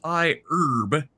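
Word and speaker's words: iHerb: Oz um is an investor in I I would pronounce it I Herb, but it's I Herb with an H.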